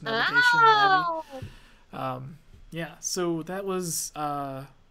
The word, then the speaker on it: Navi: I want to say Navi. How do you pronounce I say it? Navi. Navi? I say Navi. Because it's supposed to, I think I read it was supposed to be short for navigation because Navi guides you through the game.